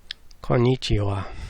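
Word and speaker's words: こんにちは: got caught Nietzsche wha konnichiwa mmm but when typing it you've got to keep in your mind that it's written ha okie dokie so I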